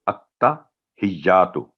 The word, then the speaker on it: التحیات: پڑ جاتی ہے اور یا پر تشدید ہے, اس کو مس کر التحیاتو. تو التحیاتو, التحیاتو یہ اس کا صحیح تلفظ ہے.